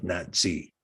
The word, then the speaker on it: Nasi: And so you say, well, is Nasi, but the ancient pronunciation for the head of the Sanhedrin was Nazi.